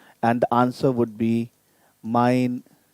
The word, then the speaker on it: mein: And the answer would be, mein Name ist Wilhelm. Mein Name. So it's mine. In English, we pronounce it like this is mine. Same pronunciation, but the way of writing is different.